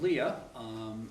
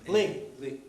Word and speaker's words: Lea: And Bill, I'm going to let you do the introductions when appropriate of Leah. Lee. Is it Leah? It's Lee. Okay, but it's spelled L-E...